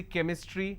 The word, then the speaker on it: chemistry: for example change but when I have the word chemistry CH becomes cur sound so I say chemistry I say chrome so